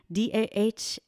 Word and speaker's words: Dahlia: media at Dahlia, DAHLIA. Dahlia, yes, I know. My parents, I'm sure they put that H in there just to mess you up.